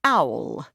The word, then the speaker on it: Owl: You can call me Owl. My mouth dropped slightly. Like the bird.